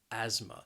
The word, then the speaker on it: asthma: say they have asthma the word has two syllables and the stress is on that first syllable that second syllable has that schwa again the sound asthma and again this word the spelling may not match up with the pronunciation because that a s th it's really pronounced as just like as like an z sound as asthma then we have the